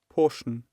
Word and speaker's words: portion: Portion, Again. portion, So did you hear? It is pronounced as person. Okay. So the first syllable is pronounced with relatively loudness.